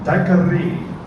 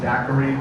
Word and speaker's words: daiquiri: He went there, and he had the daiquiri. Now I know people pronounce it daiquiri these days. That was something that started in the 1960s, but the original word is daiquiri.